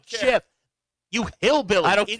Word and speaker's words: GIF: It's a soft G. It's a GIF.